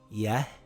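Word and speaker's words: يهدي: Remember, if the ya doesn't have any marks on it, and the letter before it has a Kasra, it's a long vowel ya. It reads Yahdi.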